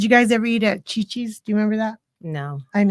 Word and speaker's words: Chi-Chi's: Cece's? No, Yeah. Chi-Chi's.